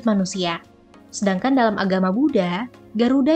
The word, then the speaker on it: Garuda: Sementara itu, dalam Buddhisme, Garuda, yang sering diucapkan sebagai Garula, sebenarnya digambarkan sebagai salah